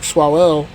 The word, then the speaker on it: Swalwell: little event with the runner-up for governor, Eric Swalwell. Right. That's how you say his name. The current candidate, right? I'm gonna botch his name, so I apologize. Yeah, Eric Swalwell.